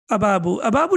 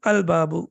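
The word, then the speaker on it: الباب: have the teacher excellent or Babu doesn't even make sense right it's difficult to pronounce it even so al-babu yes and then now it's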